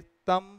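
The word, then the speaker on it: thumb: शब्द है वो है इसमें बी नहीं पढ़ते तम एंड नम तम एंड नम इज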